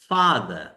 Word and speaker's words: father: Father. Father. Finish. Finish. Fin এবং ish, two-syllabic word. Fa and the, two-syllabic word. And the first syllable is stressed. So, father.